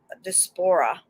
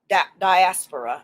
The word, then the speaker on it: diaspora: thoughts and my content african despora diaspora i said it wrong the other day sorry diaspora religions there you go